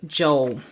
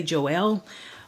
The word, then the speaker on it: Joel: of the Bible is Joel some I've heard some people say Joel but um it is Joel and Joel 2 when